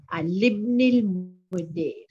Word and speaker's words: لابن المدير: Libn al Mudir. Libn al Mudir. The alif is not pronounced.